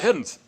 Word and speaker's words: Heddins: an S on there, half the time he wouldn't pronounce the S. He would say, "I'm Clifford Heddin." And one time I said, "Grandpa, where's that S?" "Oh, Clifford Heddins."